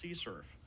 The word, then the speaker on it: CSRF: use the xsrf acronym others even pronounce the acronym and call it curf all of these terms